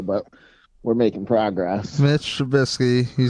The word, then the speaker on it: Trubisky: I have to like spell that Trubisky in the description. True. Just think True Bisky without an E.